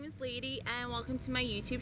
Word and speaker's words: Leidy: well let's just start my name is Lady um it's spelled and it's a Spanish name i'm colombian and i